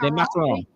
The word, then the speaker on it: Le Macaron: It's La Macaron. Le Macaron. Right. Pastries and desserts. Le Macaron. Okay. Like the macaroon.